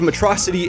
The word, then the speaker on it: Metro City: Sadly though, Titan caught on to this ruse since Megamind called the city Metrocity instead of Metro City. We established early on that he's like the only person who pronounces it wrong, so it's actually like a cool callback, I guess.